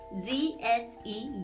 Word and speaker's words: Ghe: See here, Ghe, G-H-E, Ghe. We say this bowl, we pronounce this bowl as Ghe, Ghe.